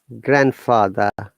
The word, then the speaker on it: grandfather: Okay, so like grandfather. Any word having grand, D is always silent.